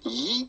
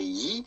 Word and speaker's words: gyro: the typical greek pronunciation yi the g is not pronounced like a g in greek simply say yi and then you don't